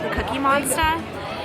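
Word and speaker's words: Cookie Monstah: Monster like get it we're in New England they don't pronounce the RS but anyways I got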